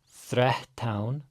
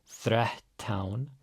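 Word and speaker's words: þrettán: Threttán. Again, our double T's. Gotta pre-aspirate before them. Threttán.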